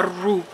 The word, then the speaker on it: roux: Se llama roux, es una palabra que viene de los franceses.